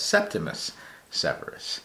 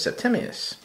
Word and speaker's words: Septimius: podcast I'm listening to, pronounced it as Septimus Severus, which sounded cool. I like the name because it kind of sounds like Optimus Prime, right? But then every time after that, he says Septimius.